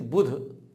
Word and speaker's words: बुध: को बुद्ध कहते हैं यह बुध है सिंपल बा पर छोटा उ की मात्रा और धा खाली बुध का कहेंगे बुध आपका बुध बहुत